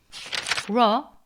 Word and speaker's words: rho: Rho, pronounced like a rolled R, R.